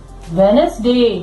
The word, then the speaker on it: Wednesday: Third day is Wednesday. Wednesday. Wednesday. D is silent.